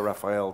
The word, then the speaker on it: Rafael: Can I just ask one more question for Rafael Lovato Jr., Brazilian American pronunciation? You prefer Rafael, don't you, I think? Yes, please.